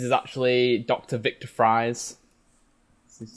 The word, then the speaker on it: Fries: I'm pretty sure in the comics it's actually still pronounced like Frizz or like Fries is, or yeah, something, it's or like pronounced Freeze.